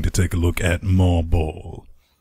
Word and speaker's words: MarBall: This time we're going to take a look at MarBall. It might be marble, but it's spelt M-A-R-B-A-L-L.